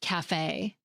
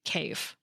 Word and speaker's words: café: In words borrowed from French, it often indicates a specific pronunciation, like that raised A sound at the end of café. Otherwise, we might be tempted to pronounce it cafe.